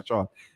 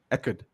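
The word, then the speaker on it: Echard: That might be Clayton Achard, clearing a card. Eckerd. I promise I'll get the pronunciation right.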